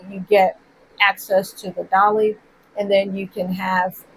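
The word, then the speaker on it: DALL-E: mispronounce this right, but I think it's pronounced Dolly, but it's DALL hyphen E.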